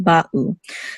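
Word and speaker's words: בָּאוּ: There should be a distinct pause between the two syllables, ba'u, not ba'u. They should not flow together, the two syllables. They should be distinct, ba'u. So even though we say aleph is silent, there is kind of a sound. The sound is a separation. It's a slight pause.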